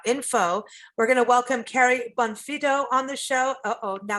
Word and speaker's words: Bonfitto: good taste dot info we're to welcome carrie bonfido on the show oh now carrie did i pronounce this correctly you got it carrie did